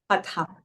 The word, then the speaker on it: Hatha: So Hatha, that means Hatha, right? Is that how it's spelled? Yeah. Okay. Yeah, right. Hatha.